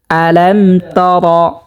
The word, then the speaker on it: ألم تر: আলাম তর, রকে মোটা করে পুর করে পড়তে হবে, কারণ রর উপরে জবর হয়েছে। রর উপরে জবর পেশ থাকলে সেই রকে মোটা করিয়া পুর করিয়া পড়তে হয়। যেমন আলাম তর, অনেকে পড়ে থাকেন আলাম তারা।